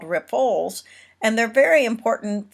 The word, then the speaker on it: riffles: Riffles, and that is not a mistake; that is correct pronunciation of that. Riffles, R-I-F-F-L-E-S.